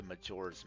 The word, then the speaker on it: Majora: Uh, this is very Majora's Mask. Majora, right? Yeah, I always pronounced that wrong as a kid.